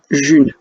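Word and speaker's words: Ğ1: sujets la monnaie libre elle s'écrit sous la forme d'un g avec une brève au-dessus et un 1 et ça se prononce June en fait on écrit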